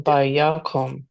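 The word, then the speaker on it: וַיָּקָם: The O vowel will always be in a closed syllable that is unstressed.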